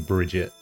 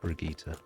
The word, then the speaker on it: Brigitte: the character came out there was a lot of people that were also saying bridget but no it is in fact brigitte is it my favorite